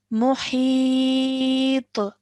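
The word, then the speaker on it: محيط: Okay, so we would read this as muhit. Muhit. Good, well done. Remember that fa is a thick and heavy sound, so really try and pronounce that.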